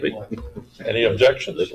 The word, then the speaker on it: Piqua: Well, between us, we decided it was Piqua, so that's what it's gonna be. Piqua.